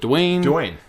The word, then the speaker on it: Duane: Is it Duane? Duane.